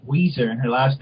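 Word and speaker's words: Ouiser: who I remember so even though it's it's spelled o u i s e r oh my God what are you sure a black person didn't write this oh it's still o i s e Weezer and her last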